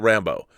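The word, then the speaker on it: Rambeau: emphasis not it's not rambo it's rambo with an emphasis on the second syllable since it's a french thing not rambo from the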